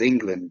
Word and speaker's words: Englund: It's supposed to be just pronounced as England, just as you.